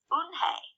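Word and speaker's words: Unhei: ona corrected it's about you and hei it's pronounced Boone hey oh it's you hey the boy said like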